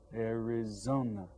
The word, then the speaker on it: Arizona: have read it Arizona Arizona that's right four now you can hear that the third syllable ARA has more stress on it listen Arizona now